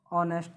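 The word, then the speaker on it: honest: Rajesh is खाली जगह ऑनेस्ट बॉय। अब बताइए इसमें क्या भरना है, हमें क्या भरना है, बताओ, करो इसका उच्चारण। क्या आ जाएगा, ऑनेस्ट। क्या आ जाएगा, ऑनेस्ट। और भर दो अब आराम से, ए एन।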